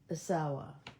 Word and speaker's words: Asawa: Asawa.